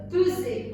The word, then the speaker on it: peser: Ça se lit ZE, fraise, peser. Regardez, le S, il est entre deux E. Donc, il se lit ZE, peser.